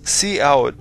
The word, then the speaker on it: cout: interesting work in this program c t is pronounced C out and it is the output stream that we